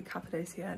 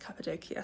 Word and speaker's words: Cappadocia: hello hello we have officially made it to capid doia now although I've been calling it capid doia I've now realized it's pronounced capadia so I'm going to try my best to